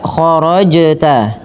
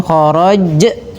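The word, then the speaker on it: خَرَجْتَ: Maka khorajta dan hati-hati menambahkan bunyi pada lafal hamzah. Jangan khorajj tapi dia sesuai dengan makhrajnya ya.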